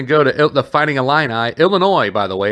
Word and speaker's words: Illinois: it with the s the s is silent my friends just to let you